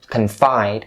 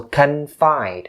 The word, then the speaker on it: confide: connection between the word confide and in so confined in confining so forth the word confined make sure you stress the second syllable so confide not confide or confined